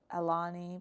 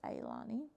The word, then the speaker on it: Aani: named her aani so kind of looks like ey iani people pronounce it Alani but it's aani then I delivered the